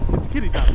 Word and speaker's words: Kittitas: however you pronounce that. Kittitas. It's Kittitas.